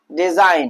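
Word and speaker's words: design: उसी तरह से हमारा एन है और एन से पहले क्या आया, जी आया है, तो जी साइलेंट होगा। और क्या पढ़ेंगे भैया, डिजाइन।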